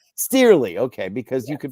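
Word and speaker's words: Cearley: Nick Steerley. Steerley, okay, because you can pronounce it any number of ways, and I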